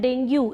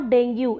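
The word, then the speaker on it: dengue: इसी तरह से लोग बोलते हैं डेंगू, इट्स नॉट डेंगू, इट्स डेंगी।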